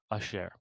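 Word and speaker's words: אשר: the word, okay, so here we have an aleph at the beginning of the word.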